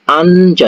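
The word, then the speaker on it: 앉아: Kalau ini dibaca itu jadi anja.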